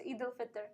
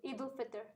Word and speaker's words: Eid al-Fitr: hit them out of the park, No, it's Eid al-Fitr, yeah. How do you pronounce it? Eid al-Fitr.